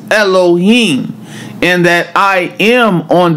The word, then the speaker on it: Elohim: When we say God's name, Eloi, or some pronounce it Elah, all right, in Genesis, it's Elohim.